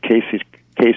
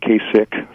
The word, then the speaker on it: Kasich: to see somebody knows how to pronounce Casey case it's not Kasich thank Jimmy you're correct one